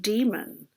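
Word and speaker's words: daemon: see their diamond or they actually pronounce it demon and i think philip pullman writes it d-a-e-m-o-n but it's very important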